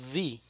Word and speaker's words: the: dos pronunciaciones the o di bien pronunciamos d cuando la palabra que sigue empieza con un sonido de consonante y pronunciamos di cuando la palabra que sigue empieza con un sonido de vocal veamos algunos ejemplos the